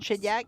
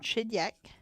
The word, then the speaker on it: Shediac: Like that we keep Shediac, S-H-E-D-I-A-C, or Shediac, if we want to pronounce it in English.